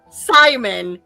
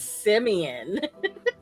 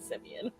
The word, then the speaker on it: Simon: It's not Simon, it's Simeon. His name is spelled like Simon, but he pronounces it Simeon.